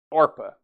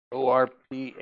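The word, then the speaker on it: Orpah: orpa nope doesn't go there under the names orpa o r p Ah h orpa and the name of the other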